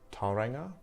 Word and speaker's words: Tauranga: So, if I talk about May, I talk about the month that I started working in Tauranga, that's how you say it. Tauranga is located east of